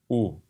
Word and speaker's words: où: Où. Right, you have two letters, but that's only one sound.